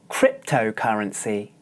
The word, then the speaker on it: cryptocurrency: the same vowel sound as in the first syllable cryptocurrency cryptocurrency the vowel e is confusing for many